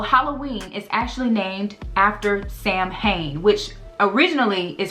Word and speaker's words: Samhain: So Halloween is actually named after Sam Hain, which originally is pronounced as Samhain, and it actually means to honor Samhain.